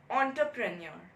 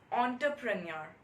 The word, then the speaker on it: entrepreneur: For example, there's a word called entrepreneur. So we write it as ENTERPRENEUR, right? So basically this word is pronounced as entrepreneur, not entrepreneur.